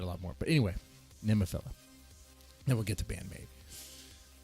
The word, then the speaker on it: Nemophila: Even they were like, who's Nemophila? They got the name wrong. They're like, Nemophilia? They didn't know how to pronounce it.